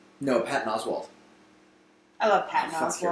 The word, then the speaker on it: Oswalt: He's Oswalt? Oswald. Okay, every time I hear someone say it, they always say Oswald. No, it's I'm pretty sure it's a T. No, it is a T.